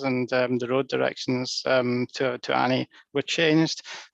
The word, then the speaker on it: Ani: And there's 2 different I's in Turkish. There's a dotted I and an undotted I. And the undotted I is pronounced eh. So that changed the pronunciation. By removing the dot, it changes the pronunciation from Ani to Ani.